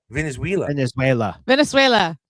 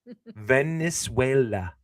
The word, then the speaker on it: Venezuela: Venezuela. That's what I said. That is not what you said. You're adding an That's what I I. said. Putting the Venezuela. emphasis on the wrong syllable. Venezuela.